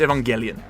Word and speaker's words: Evangelion: apparently looked it up there's not a silent G it's Evangelion it's Evan Evangelion I knew Ito I